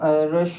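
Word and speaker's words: rustle: को बोलते हैं हम रल क्या बोलते हैं रल आर यू एस टी एल ठीक है लेंट होता है इसमें आर यू एस टी एल रल टी साइलेंट होता है एक्चुअली और रेंस के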